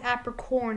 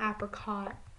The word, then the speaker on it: apricorn: a gem apricorn yeah it's apricorn not apricot um what did I